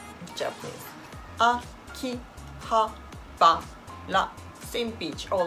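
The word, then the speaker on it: 秋葉原: You need to say the all letter same pitch. Akihabara. Akihabara じゃなくて it's not Akihabara じゃなくて different it's not Japanese. Akihabara same pitch all letter is same pitch.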